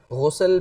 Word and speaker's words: غسل: تو غسل کا تلفظ ٹھیک ہونا یہ بھی ضروری ہے۔ اب سب سے پہلے غسل پیش کے ساتھ اگر غسل کہا جائے تو اس کا معنی